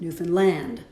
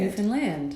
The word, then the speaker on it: Newfoundland: They made us say, understand, Newfoundland. Oh. That's the way you say Newfoundland.